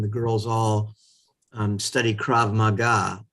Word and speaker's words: krav maga: girls all um study krav maga i'm surprised that pronunciation i always said grab maga um you know had